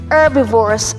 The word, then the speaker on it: herbivores: and we have herbivores herbivores h is silent herbivores herbivores ladies and